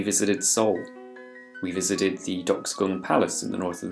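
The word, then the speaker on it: Deoksugung: great place to visit now it should be pronounced something like doxogum but if you look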